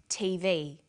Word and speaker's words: TV: with a read-only memory notice that each letter in the abbreviation is pronounced separately but the last letter is pronounced more strongly because it carries the primary stress so we say usa